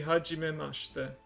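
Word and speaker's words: はじめまして: So when you first meet someone, and introduce yourself, you say hajimemashite.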